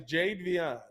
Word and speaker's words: Jadeveon: hey is his name Jadeveon how do you pronounce his first name is it changed now Javion Jade VR yeah he's Jadeveon no uh Clowney's an interest well I I